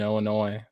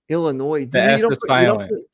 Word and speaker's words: Illinois: the d asylum or illinois there's no you don't pronounce the s so why put it there what the f that's